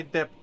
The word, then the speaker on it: debt: Anyways, I That to me completely repaid sounds- my debt now. I love how you pronounce the B in debt.